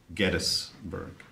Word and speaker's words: Gettysburg: Yes, that's how it's pronounced, Gettysburg.